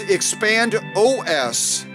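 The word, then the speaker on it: ExpandOS: called expand expand i i said it wrong i'm sorry it's expand os dot com expand os dot com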